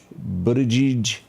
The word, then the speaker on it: Buttigieg: Pete, am I pronouncing this guy's name? Pete Buttigieg? How do you say? Buttigieg.